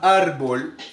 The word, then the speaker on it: árbol: es la penúltima visto la sílaba tónica de árbol o la sílaba más fuerte de árbol de la palabra árbol es la penúltima sílaba quiere decir que es